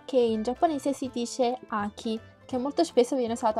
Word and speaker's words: 秋: Ora vi faccio vedere le pronunce. Allora, quello con yomi appunto è Aki, che si scrive così.